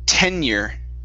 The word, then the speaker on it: tenure: okay the word here is pronounced tenure tenure tenure 10 one more time 10 year tenure like 10 years yeah almost like 10 years but without the S so it's 10 year